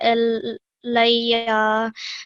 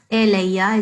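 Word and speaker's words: إليّ: Okay, so just the only thing I would say, it's not elayya, it's ilayya. Okay, you see this has the kasra underneath, the alif has the kasra, that's not eh sound, it's ilayya.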